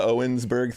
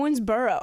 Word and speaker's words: Owensboro: I misheard the Owensburg thing. Yeah, you're butchering it every time you add something new. What's it called? Owensboro.